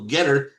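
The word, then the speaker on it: Gettr: So, Get her. It's spelled Ge TR.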